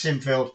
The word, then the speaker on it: Sinfield: 2 more, Lavelle and Seinfeld. Seinfeld? I don't know. I think it's Sinfield. It's spelled Sinfield.